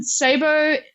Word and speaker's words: Ceibo: let's start there yeah so um thanks Shannon Sabo uh it's spelled c e i b o um and